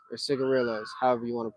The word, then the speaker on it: cigarillo: going to talk about cigarillos or cigarillos, however you want to pronounce it. It's technically pronounced cigarillo because it is a Spanish word, and the double L is a Y sound.